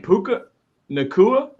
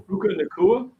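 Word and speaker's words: Puka Nacua: Pa puka, how do you say his name? Puka Nakua. Puka. Yeah. Yeah, that's correct. Puka Dua. Puka Nakua.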